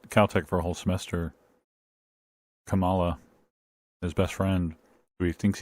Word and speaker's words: Kamala: because i'm the the way the vice president pronounces her name spelled the same way kamala always throws me and i have to think no no it's not kamala it's kamala okay but the way she's uh